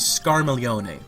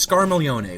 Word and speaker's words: Scarmiglione: The character's name is Scarmiglione, which involves that GL sounding like la thing that so many people have trouble with in Italian, like familia or battaglia. But yeah, his name is Scarmiglione, which is spelled S-C-A-R-M-I-G-L-I-O-N-E.